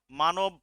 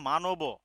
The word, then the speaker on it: মানব: এর আসলে সঠিক উচ্চারণ হবে তো মানব। ঠিক আছে, কারণ যতক্ষণ হসন্ত দেননি আপনি, এর সাথে তো একটা কিছু ইয়া যুক্তই হচ্ছে, আপনি থেমে যাবেন না। হ্যাঁ, যদি আপনি এখানে হসন্ত দেন তাহলে উচ্চারণ হবে মানব, আর হসন্ত ছাড়া মানব।